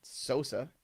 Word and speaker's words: Sosa: And I'm just telling you, Sosa, S Osa, that's how it's pronounced with the O in there.